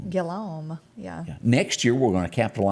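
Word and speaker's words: Robert Guillaume: Robert, how do you pronounce that? I think it's Guillaume. Guillaume, yeah.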